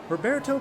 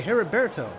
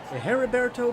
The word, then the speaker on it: Herberto: back from Arlo racing Roberto thanks to her her oh I'm sorry herberto and Leo from raino racing herberto I apologize for mispronouncing your name hopefully I pronounced it correctly that time but for now here